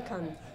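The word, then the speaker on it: Cannes: die französische Aussprache gelernt ich glaube dann heißt es aber kann kann kan ist eine andere Stadt da ist das Filmfest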